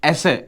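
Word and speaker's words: ඇස: சில உறுப்புகளை நாங்க பார்ப்போம் அச இது இதை நீங்க ஆ என்று உச்சரிக்கக்கூடாது ஈ ஏ என்று உச்சரிக்க கூடாது இது ரெண்டையும் சேர்த்து அ இது எப்படி இப்படித்தான் போடணும் அ ச என்று சொன்னால் கண்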